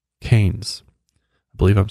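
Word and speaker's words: Cairns: but a city called keynes i believe i'm saying that right it's spelled c-a-i-r-n-s but in australia they pronounce it as keynes which is kind of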